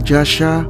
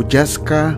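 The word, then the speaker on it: Jascha: Pinupronounce din ito ng iba na Jasha o Jaska, pero Yasha ang gagamitin ko, mga idol, dahil yun yung Danish pronunciation ng pangalan niya.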